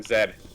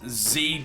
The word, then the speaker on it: Z: a lot of things z does make more sense in the fact that there are a lot of more things that rhyme with z like c d e you know you can